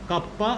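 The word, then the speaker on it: kappa: উচ্চারণটা এরকম হয় কাপ্পা, আর স্পেলিংটা হচ্ছে এরকম।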